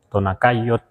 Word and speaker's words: Tonacayotl: Tonakayot, que por lo pronto así lo pronunciamos.